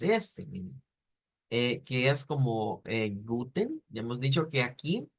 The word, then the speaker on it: guten: pero cuando veamos la Esa es la transliteración pero cuando veamos el ipa vamos a ver que esa e no existe lo que existe es una t después de una n como el sonido ten